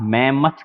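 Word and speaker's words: mammoth: मैमथ इसका pronunciation, आप इस वर्ड को ध्यान से रखना याद, मैमथ कहते हैं इसको। हमने चाहे भले इसको मैम की मौत पढ़ा इस तरह से, लेकिन आप इसको मैमथ पढ़ना।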